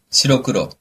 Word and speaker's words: 白黒: 시로크로.